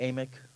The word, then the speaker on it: Amick: and Machen Amick. Did I pronounce Amick, that right? I think it's Amick? Amick.